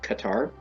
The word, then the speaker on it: Qatar: are a Qatar resident, and yes, it is pronounced Qatar. If you hear any other pronunciations, that is incorrect.